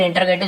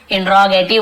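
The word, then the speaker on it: interrogative: last और देखते फिर इंटरोगेटिव शुरू हो जाएंगे, जिसे एक्चुअल में इंट्रोगेटिव बोलते हैं, हम लोग इंटरोगेटिव बोल देते हैं क्योंकि वैसे लिखा, लेकिन इसका प्रोनाउंसिएशन इंट्रोगेटिव ही होता है, लेकिन इंटरोगेटिव बोलिए,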